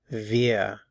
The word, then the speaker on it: wir: And notice the pronunciation of the W, wir, wir, sind wir.